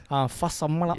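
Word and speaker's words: Fa'asuamaleaui: How do you say his last name? I wasn't going to attempt it, mate. Fasamala Yes, that is it.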